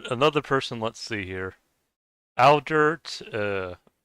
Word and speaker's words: Aldert: Aldert. That sounds like Albert, but it's Aldert, I think.